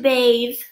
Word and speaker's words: bathe: You know, in some places, it is impolite to bathe. Look, silent E makes the A say its name. Bathe.